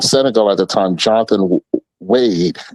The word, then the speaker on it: Wade: at the time, Jonathan Wade is how it's spelled, but they pronounce it wide or Jonathan Wade.